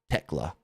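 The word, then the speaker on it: Thekla: And even though the name is spelled T H E K L A, it's not Techla, it's Techla. Silent H.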